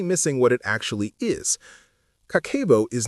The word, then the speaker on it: Kakeibo: And Kakeibo, pronounced Kakeibo, is a significant part of the reason why.